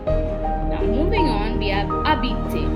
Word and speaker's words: habiter: Now moving on, we have habiter. Habiter means to live. The H in habiter is silent.